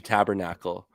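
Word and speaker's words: tabarnak: Like a tabernacle. And then how they would how the French pronounce tabernacle is tabernac. So it'd be like tabernac. It's like a it's like a Quebec slur.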